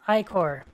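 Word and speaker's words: ichor: can fill it with magical icker that's pronounced i-core whoops sure new initiate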